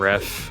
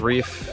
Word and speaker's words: Ref: We do sometimes use both Reef and Ref. I believe Reef is how he likes it pronounced, so that's why I've been using that.